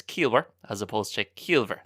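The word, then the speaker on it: ciallmhar: And you might notice there, it's not Keelver, the pronunciation. So again, the MH, the BH in Munster will always be pronounced like a V.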